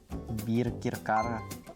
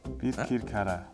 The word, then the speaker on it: Birkirkara: Birkirkara. Birkirkara. Birkirkara. Solid pronunciation.